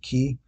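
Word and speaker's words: Cay: own private Island Ocean K which I think I say k but I think is they they pronounce it key whatever anyway so I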